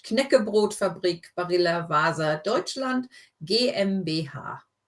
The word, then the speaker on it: Knäckebrotfabrik: So you do need to pronounce the K as well. It's not a silent K like in English. Knäckebrotfabrik Barilla Wasa Deutschland GmbH. Knäckebrotfabrik.